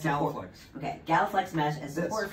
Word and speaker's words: GalaFLEX: of this, but it looks like it's Galatia mesh. Oh, it's Galaflex.